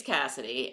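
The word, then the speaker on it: Caisid: I actually had to ask Ekko how you pronounce that because uh it is um gelic I believe uh so anyway her name's Cassidy and she is the L's sister and he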